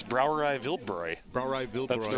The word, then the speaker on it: Brauerei Wildbräu: It's Brauerei Wildbräu.